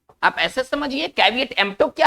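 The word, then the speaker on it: caveat emptor: तो हमारा next word है, इसको हम पढ़ेंगे कैविएट एम्प्टो। कैविएट एम्प्टो, देखिए इसका उच्चारण कैसे है, कैविएट एम्प्टो।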